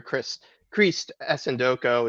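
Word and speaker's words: Christ Essandoko: We kind of alluded to him earlier, Christ Esendoko is technically how you pronounce it, but we have said it wrong for the last 3 months.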